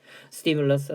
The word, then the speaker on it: stimulus: 그러니까 발음을 외우세요. 발음. 스티뮬러스, 스티뮬리. 어디서 들어본 것 같잖아요.